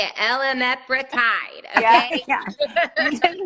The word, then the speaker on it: Elamipretide: And this is how you say it, Elamipretide, Yeah, okay?